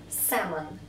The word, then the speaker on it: salmon: Salmon, лосось, L не произносится.